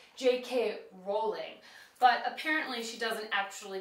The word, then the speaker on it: Rowling: I would say JK Rowling and so I assumed that that's how she pronounces it however she says it Rhymes more with bowling and she would pronounce her name JK rolling but apparently she doesn't